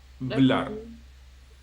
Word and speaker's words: hablar: The same with hablar, it ends in R or R, hablar.